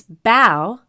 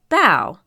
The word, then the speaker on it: bao: little clues right here the kitty says it's bow like bow not like bo sometimes people might have